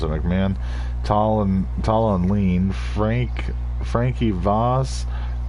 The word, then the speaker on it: McMahon: Donnie McMahon, that's how you pronounce it, McMahon.